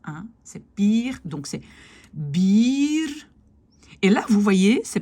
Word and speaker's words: bier: c'est pire, donc c'est bier. Et là, vous voyez, c'est pas juste deux I, c'est IE. IE est un long I. Bier, vieren, wielen, kiezen. C'est pas deux I, c'est vraiment un IE.